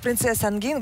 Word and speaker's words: Princesse Angine: Но, в общем, да, тогда не нужно все-таки вообще, нужно отказаться именно от русского вот этого произношения «Принцесса Ангина», «Принцесса Ангин». Вот так надо.